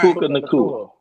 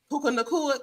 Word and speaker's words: Puka Nacua: Well, how do you pronounce the other receiver's name? Nakua. Puka Nacua? Right. Puka Nacua. Puka Nacua.